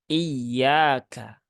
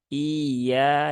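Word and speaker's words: إِيَّاكَ: Ya, jadi itu yaknya bertasdid, maka dibaca dengan cara naber, ya, naber. Ada penekanan intonasi. Iyyaka, ya. Iyyaka na'budu wa iyyaka nasta'in. Nah, iyyaka. Nah, sebagian besar yang kami dengarkan itu membacanya seperti ini. Iyyaka na'budu. Iya, nah, iya. Nah, kalau seperti itu kan seolah-olah tasdidnya hilang, nah, kemudian hamzahnya ini terbaca panjang.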